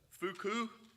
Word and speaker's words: Foucault: I just learned the French pronunciation. I had 1 year of French, but I had to look it up. Foucault, Michael Foucault, French philosopher.